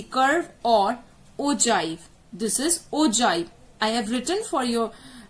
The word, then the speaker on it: ogive: I write the bifurcation, it is pronounced. The bifurcation of the pronunciation is ogive. It is not ogive. It is not ogive. It is not ogive. It is ogive. So please keep that in mind. If whosoever is pronouncing it as ogive, they are pronouncing it as wrong.